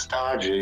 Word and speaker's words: stodgy: But you guys in English, is stoogey a word? It's pronounced stodgy.